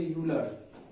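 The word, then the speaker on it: Euler: ई silent होता है, इसको पढ़ेंगे यूलर।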